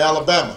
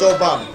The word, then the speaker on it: Obama: name Barack Obama although they wouldn't say it right and they'd call me Alabama so they call me yo mama and I'd have to explain I don't have to explain my name's Obama and my father was